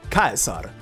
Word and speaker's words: Caesar: Am I gonna say her name Caesar, or am I gonna go the Latin way and say it Caesar? And I went the Latin way. So if you see me, or rather you hear me say that her name as Caesar, that's because I'm using the Latin pronunciation for the name.